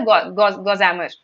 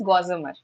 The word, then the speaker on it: gossamer: really checked the pronunciation so I pronounced it pronounced it as goammer then recently when I checked it the pronunciation is gossamer so it's always better that whenever you learn